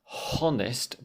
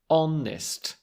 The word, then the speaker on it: honest: honest as Sheikh said watch out for those silent H's so not honest but honest with the o sound the vowel sound and that's coming back